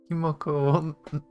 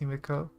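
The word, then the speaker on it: Himeko: 哎， Normie, like Aunt Himoko will never understand how we Kaslanas fight. We're born warriors. I love how she says her name wrong every time.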